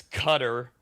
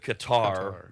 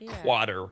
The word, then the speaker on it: Qatar: It's cutter or you can get away with Qatar. It's not like quatter. A lot of Americans qua.